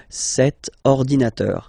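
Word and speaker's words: cet ordinateur: if you look carefully it start with O Okay so vowel and then you will have to take this set form so the masculine form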